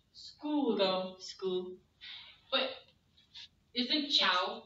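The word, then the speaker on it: ciao: But isn't chow like for chow bella C A O? It's C-I. It's C-I. Isn't that interesting? C-I. Not Chiao, though. Chow. Chow, which means it is soft.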